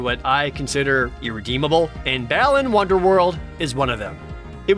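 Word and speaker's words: Balan Wonderworld: that everyone unknowingly mispronounces seriously it's balin wonder world not balan wonderland which blows off the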